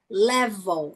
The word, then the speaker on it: level: Se você olhar aqui na lateral, ó, level, não pronuncia a letra e, a segunda letra e level, você passa de V para L.